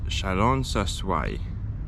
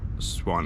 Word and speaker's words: Chalon-sur-Saône: It's Chalon-sur-Saône or something like that, not Swan, or whatever I said before.